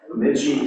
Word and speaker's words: Bemidji: He also served as Dean of Business Technology and Communication at Bemidji, is that my pronunciation? You got it. Bemidji State University in Minnesota.